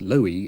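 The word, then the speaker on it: Loewe: We've chosen sets from Philips, Nord Mender, Sony, and the German manufacturer LVA, usually pronounced Loi in this country.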